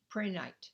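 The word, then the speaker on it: prehnite: energy it is sending it how do you spell it mel what is it appreciate p-r-e-h-n-i-t-e pranite and which which one is that it's the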